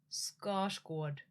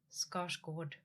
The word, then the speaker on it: Skarsgård: Scar squad. Scosg.